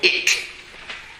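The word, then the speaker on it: Ikh: the diagram is called ich. I-K-H. Write that there. Ich. Now let me hear you say it. Ich. Notice how I'm saying it. Ich. Put some energy there.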